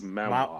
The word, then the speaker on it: manhwa: I mean, Mawe yes. or what is? Yes, actually, Mawe, or I'm saying it wrong because it's manhwa.